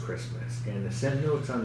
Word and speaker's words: Kiritimati: it looks like I sort of called it kiritimati right because I saw this care of my dad was like no it's actually pronounced Christmas and so it's here as well I'll show